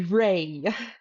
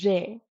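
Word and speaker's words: རེ: The word re for is shouldn't be ray. It should be re.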